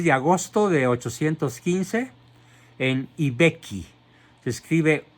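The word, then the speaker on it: I Becchi: Nace pues el 16 de agosto de 815 en Ibecchi. Se escribe I, que significa el, Vecchio.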